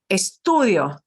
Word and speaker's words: estudio: you're going to see it's always second to last syllable eStudio eStudio right again right not